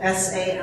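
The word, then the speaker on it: Zambo: S-A-M-B-O. It's actually Z-A-M-B-O. C-A-M. Yeah, but like we pronounce Sambo, Sambo.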